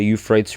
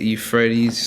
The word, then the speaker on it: Euphrates: First one is the drying up of the Euphrates River between, I'm pretty sure it's Iran, Iraq, Turkey, and another country, and Syria.